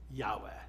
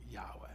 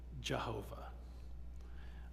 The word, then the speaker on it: Yahweh: like that it is Yahweh it is the the name of God Yahweh now that's the more recent understanding by Scholars of how to pronounce it for centuries we thought you pronounced it Jehovah um and we thought